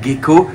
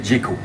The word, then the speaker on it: gecko: j'ai bien dit gecko souvent j'entends que les gens confondent un petit enfin confonde appelle ça des geekos la vraie prononciation c'est gecko puisqu'il s'agit du terme local à l'origine pour désigner ce genre de petit lézard c'était des gecko donc on dit bien gecko et non pas Geko ici c'est le gecko